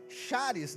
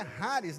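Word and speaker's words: χάρις: Então, a palavra graça no original grego, que é o Novo Testamento, ela é chares, né? Na verdade é Haris, né?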